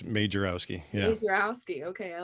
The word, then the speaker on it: Majerowski: your cool last name it's like it's majorowski it's just how it looks it's made jarrowski yeah okay i like